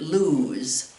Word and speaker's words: lose: pronounce it loose loose if it just has one o we pronounce it lose lose if you want to